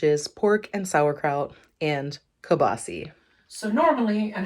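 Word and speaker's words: kielbasa: and that is Kil basa we don't say Kil basa here we say kabasi I grew up saying kabasi and again when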